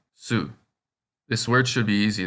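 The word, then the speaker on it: す: This kana looks like a thread and needle, and if you pronounce so, S-E-W, the way it looks, then you have the pronunciation for this kana, su.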